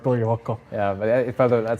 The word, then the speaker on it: Toivakka: Toivakka. Yeah. I was afraid to Only pronounce it wrong. pretend that you can speak Finnish and it will sound like Toivakka.